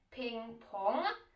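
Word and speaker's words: ping-pong: a vy to možná znáte jako součást názvu pingpong což je pingpong náš klasický stolní tenis a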